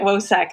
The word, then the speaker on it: WoSEC: We're pronouncing it WOSEC.